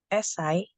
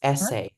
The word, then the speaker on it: essay: in an ASI essay SI no it's not SI it's essay essay okay essay what about